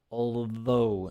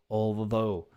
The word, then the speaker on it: although: So we have although, pronunciation, although, not the traditional silent TH in English. We have the 1, 2, 3, which is silent. Although is like spoken. It's like mother, brother, although.